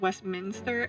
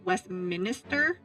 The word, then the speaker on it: Westminster: of Westminster police station I always pronounced Westminster as Westminister and I always got really confused whenever I was like typing westmin Minister instead of Westminster like why what what's